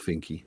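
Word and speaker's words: Finke: Yes, it's pronounced Fininky.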